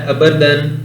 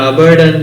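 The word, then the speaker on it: Aberdeen: Famous city एबरडन, ये जो famous city है अबरदन या अबरडन जो भी आप प्रोनाउंसिएशन करना चाहें, इज the city of which country, तो ये जो है वो स्कॉटलैंड का कंट्री है।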